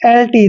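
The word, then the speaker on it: exult: यू एल टी दोस्तों जब भी एक्स के बाद यू आता है तो एक्स का उच्चारण ज होता है तो ई एक्स यू एल टी इसका उच्चारण करेंगे हम एल्ट क्या करेंगे एल्ट ऐसे एल्ट पढ़ना है इसको ध्यान रखिए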